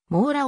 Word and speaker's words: Mora: を持っているもうらの正しい発音は長屋王の mora であるありがとうございます